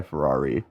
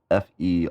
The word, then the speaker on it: Ferreira: And Sky Ferrari. And that's not how you say her last name, but I don't know how to pronounce it. That's okay. It's Ferreira.